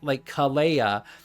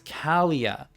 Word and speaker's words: Kalia: I keep getting Kalia wrong because I keep thinking like, oh, she did something special for it. And it's like Kalea, but no, it's Kalia.